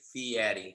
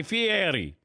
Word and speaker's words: Fieri: Fieri. So the way I explain it to everybody is there's a guy named Eddie, and he's got to pay a fee. There's a fee, Eddie.